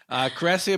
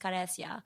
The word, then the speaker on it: Karesia: if I'm meeting someone, because in Spanish it's pronounced Karesia, so I've just kind of learned to respond to different versions of my name depending on what culture I'm. Okay. Well, Karesia Batan, who's actually Filipino, not Hispanic, is here.